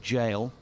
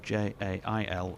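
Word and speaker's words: gaol: and french this was with regard to the pronunciation of of jail g o a l sorry g a o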